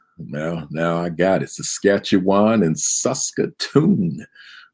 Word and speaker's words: Saskatchewan: - tongue twister now now I got it Saskatchewan and susta tune right where you from where